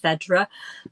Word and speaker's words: Phaedra: and dad christened me Fedra or we pronounce it Fedra because of the old flat vowels.